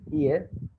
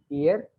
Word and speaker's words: hier: For yesterday, I think I told you one day the word is HIER, which is ear, ear, ear. H is silent, ear.